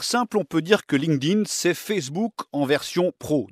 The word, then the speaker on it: LinkedIn: dans le monde entier pour la prononciation c'est donc linkedin et ça s'écrit link1n d irène link en anglais